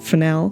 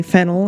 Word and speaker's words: Fennell: directed by Emerald Fel Fel is my last name my family's name f n n e l l and I say it like Fel I've heard other people say fennel and they've always said that for me too so hi I'm Emerald